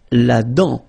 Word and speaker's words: dent: La dent. Final T not pronounced.